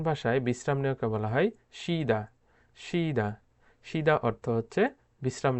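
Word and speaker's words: 쉬다: Korean ভাষায় বিশ্রাম নেওয়াকে বলা হয় শিদা। শিদা। শিদা অর্থ হচ্ছে বিশ্রাম নেওয়া। যদিও এখানে সুইদা অনেকে উচ্চারণ করে থাকে সুইদা। সুইদা, এই সুইদা উচ্চারণটি ভুল উচ্চারণ। সঠিক উচ্চারণ হচ্ছে শিদা।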